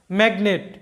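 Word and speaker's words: magnet: এন ই টি নেট তো এখানে কিন্তু আমাদের এনের উচ্চারণ হবে জির উচ্চারণ হবে সবগুলোর উচ্চারণই হবে কেন কারণ এটা লক্ষ্য করো যে একটা সিলেবলের মধ্যে কিন্তু জি এবং এন একসাথে নাই এখানে একটা সিলেবলে জি আছে আরেকটা সিলেবলে এন আছে তাই এই শব্দে জি এর উচ্চারণ হবে ম্যাগনেট যেটার বাংলা অর্থটা হচ্ছে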